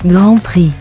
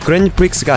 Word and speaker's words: Grand Prix: 그랑프리는 프랑스어로 직역하면 대상, 최우수상 정도의 뜻인데 원 발음은 Grand Prix, 영어권에서도 그랜프릭스가 아니라 가급적 Grand Prix, 라고 부르고 있습니다.